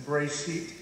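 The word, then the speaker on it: בראשית: The first is that in the book of Genesis, in Bereshit, as it's pronounced in Hebrew, there is a description of the creation of human beings.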